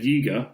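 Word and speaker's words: Yeager: Doza and Yiga, rhymes with eager in case you've forgotten,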